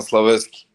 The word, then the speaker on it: Slaveski: you kind of mistake man you kind of mispronounced my name but uh it's okay correct me go ahead gorian slavesky gorilla yes sir uh so I got the